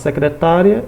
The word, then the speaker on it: secretária: o significado da palavra no caso secretária e secretaria observe a sílaba tônica a tonicidade a forma como ele é pronunciada mudou o significado óbvio porque também o